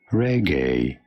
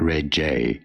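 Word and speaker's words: Regé-Jean Page: go about pronouncing it reggae yes it is not red jay but rather reggae jean page pretty straightforward don't you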